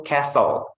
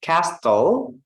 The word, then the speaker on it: castle: Contohnya kakak lupa tulis di sini itu castle. Tulisannya castle, tapi kita bacanya castle.